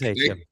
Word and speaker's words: Etienne: and a player that turns out we've been pronouncing wrong all of these years. How should I be saying it? Etienne?